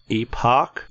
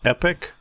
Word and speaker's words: Epoch: I'm told that the spaceship is pronounced Epoch, not Epic.